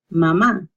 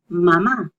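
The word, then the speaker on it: mamá: So that means there's emphasis on that. If you don't have it, then it's not a very appropriate word to say out loud. So you always say mama, papa, and I apologize here.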